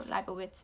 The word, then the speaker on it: Leibovitz: She's a photographer, and that's Annie Leibovitz, or Leibovitz if you would like to pronounce it that way.